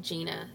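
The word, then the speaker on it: Jeana: was spelled like mine actually my name is spelled JEA na Gina so it's not GI na and her name is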